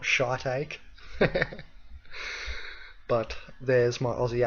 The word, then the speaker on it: shiitake: Pretty sure it's pronounced shiitake, not shiitake.